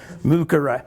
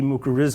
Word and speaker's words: mycorrhiza: Okay, the C always has to be hard. The I, if pronounced hard, would be an E, so it would be mycorrhiza, or else it would be mycorrhiza. I would say mycorrhiza. And then you throw on the Latin diphthong.